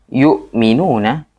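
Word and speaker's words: يؤمنون: Yu'minuna ya, orang-orang yang beriman. Yu'minuna. Jadi kalau misalkan memang tulisannya hamzah, maka dibacanya harus hamzah.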